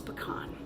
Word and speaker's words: pecan: tell you how to say it in its pecan all right we'll now get started and you'll